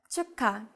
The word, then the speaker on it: 축하: It's the same if the initial is a 히읗. Except as the 히읗 is replaced, it leaves behind something extra. Aspiration, 축하, 축하.